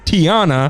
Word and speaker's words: Tiana: Tiana writes in and says her name is pronounced Tiana, awesome. Like Princess Tiana.